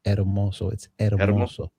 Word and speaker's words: Hermoso: You don't pronounce the H when you say eroso. It'so. Yeah. Spanish name, so you don't pronounce the H.